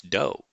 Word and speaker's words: Doe: It's spelled do, but it's dough.